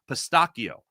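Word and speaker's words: pistacchio: So much in fact that I learned in Italian it's actually pronounced pistakio which is just mind-blowing.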